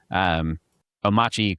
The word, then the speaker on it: Omarchy: So, Omarchy Quattro, the R is silent.